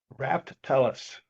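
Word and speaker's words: Raftelis: Yeah, Dee, if I could, how do you pronounce this contractor's name? Raftellus? Raftellus.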